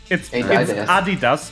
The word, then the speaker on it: Adidas: new it's like which most Americans pray pronounce Adidas ADI does because ADI is the first name and dustler is the last name of the person who founded the company um yeah yeah don't